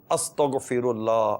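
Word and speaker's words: استغفر الله: استغفر اللہ، استغفر اللہ، غاف نہیں ہے، غین ہے، استغ نہیں ہے، استغ غین ہے، استغفر اللہ، استغفر اللہ، استغفر اللہ، یہ تلفظ درست کریں، حروف کی ادائیگی درست کریں تو اس کی برکتیں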